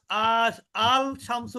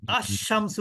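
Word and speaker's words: الشمس: আল কমারু বলেছি কিন্তু এখানে কিন্তু আমি আল শামসু বলি নাই কি বলেছি আশামসু বলেছিস আমি এখানে বলেছি আল কমারু কিন্তু এখানে কি বললাম আশামসু তার মানে কি এই যে ডেফিনিটের লামটাকে কিন্তু আমি উচ্চারণ করি নাই এইখানে গ্রামার এখানেই গ্রামার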